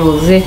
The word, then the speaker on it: Rosé: sei lá ó areia Rosé não é tem não tem acento né ah tem Rosé areia Rosé tem acento no é sílaba tônica tá então é rosé não é acento circunflexo